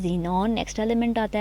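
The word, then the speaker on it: xenon: Radon, XE क्या बना, जीनॉन की सिंबल, और रेडॉन इसको जीनॉन पढ़ते हैं, बहुत सारे बच्चों को इनकी प्रोनाउंसिएशंस भी नहीं आ रही होती हैं, जीनॉन, krypton, argon, helium, नियॉन, and then radon, radon की Rn।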